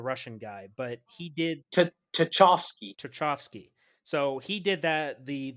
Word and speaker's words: Tchaikovsky: It's actually called the Swan Lake song, and I believe it was by I can't pronounce his name. It's like Cherchovsky. It was a Russian guy, but he did Tchaikovsky.